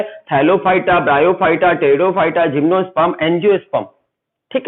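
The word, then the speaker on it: Pteridophyta: टेरिडो में P silent रहता है, पी से स्टार्ट होती है स्पेलिंग, याद रखिए, कंफ्यूज मत होइएगा। टेरिडोफाइटा, टेरिडोफाइटा।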